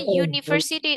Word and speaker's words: university: Karena university tulisannya U, tapi bacanya adalah U. University. Maka artikel yang bisa disandang adalah a university.